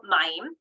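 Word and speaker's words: מים: Mayim.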